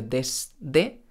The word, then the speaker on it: desde: ejemplo la palabra desde la palabra desde a veces yo la pronunció desde oa veces desde desde porque la d es sonora es decir yo utilizo mis cuerdas vocales para pronunciar la de de la s no utilizo las cuerdas vocales pero en contacto con una d desde a veces si la pronunció y a veces no por eso esto no